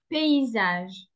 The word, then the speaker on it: paysage: souffre, non, j'ai Ah, attention à la prononciation, c'est le paysage. Paysage. paysage. Je crois que le paysage